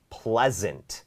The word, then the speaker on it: pleasant: The Weather is so pleasant pleasant สะกด ด้วย S นะ ฮะ แต่ ออก เป็น ตัว Z The Weather อยาก ให้